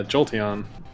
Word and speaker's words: Jolteon: Yeah, Jolteon. Exactly. I'm glad you pronounced it correctly.